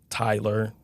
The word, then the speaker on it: Tyler: Any other time you see I is Y is, TI is bow tie, TIE-LER. It makes sense.